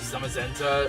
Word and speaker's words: Zamazenta: Say Zashian like Swellow and pronounce Zamazenta like Magenta, but I don't pronounce the G that is.